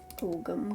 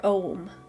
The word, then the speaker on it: Ogham: Ogham carvings. Or Ogham, I think is how it's actually pronounced.